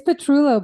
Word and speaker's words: Petrullo: how are things down in Orlando hello it's petrulo by the way and it's okay if you don't pronounce my last name because I can't very